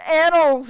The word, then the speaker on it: annals: It's supposed to be annals or something, and I read. What? That's a bad word to put there. How is that word pronounced? You just said that. Annals. Annals? Annals. Not anal.